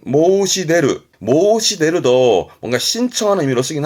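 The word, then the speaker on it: 申し出る: 발음은 모시데르.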